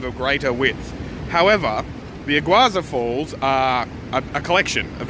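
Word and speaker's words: Iguazú: called, let me see, it's Iguaza, not sure how to pronounce it, but Iguaza, sort of like iguana, I presume.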